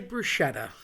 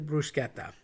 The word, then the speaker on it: bruschetta: I get why you say it, but it's technically bruschetta. So, let's have a little talk about that. The c h is pronounced k, like a k if you will.